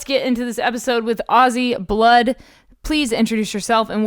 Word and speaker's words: Auzzy: I spell it out because everybody normally calls it Ozzie or, like Ozzy Osbourne, but Auzzy Blood.